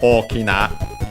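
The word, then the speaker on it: 大きな: By the way, the accent of Okina is on the first syllable, unlike Oki, which is as usual on the second last syllable.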